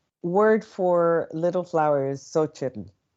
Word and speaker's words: Xochitl: But the word for little flower is Xochitl. And so it's pronounced like so instead of cho by some. Some people pronounce it cho. Some people are ho because the X is an actual H sound in other in Nahuatl as well.